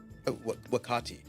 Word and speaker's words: Wakati: Wakati. But I'm not saying you should Wakati. call me Wakati. I'm just saying that's how it's pronounced.